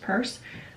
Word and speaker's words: Pierce: also to go podcast it's pronounced purse um they are both